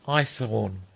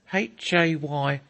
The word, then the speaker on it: Haythorne: "My name's Eyethorne." "What?" I asked. "Eyethorne, sir, Eyethorne." "Spell it." Haythorne, Eyethorne. "Oh," I said, "Irish Cockney." "Yes, sir, London born."